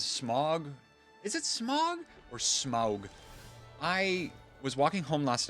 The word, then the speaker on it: Smaug: like, sneered at me when I said Smog. Like, you Smog. What's a Smog? The dragon in The Hobbit? I'm like, oh, okay. Smaug.